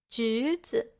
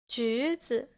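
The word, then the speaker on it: 橘子: 橘子, 橘子. Here, the second character has a neutral tone.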